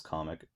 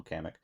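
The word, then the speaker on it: Kamek: we got uh kamik I'm not gonna say it as comic it's I call I call him kamik um and [ __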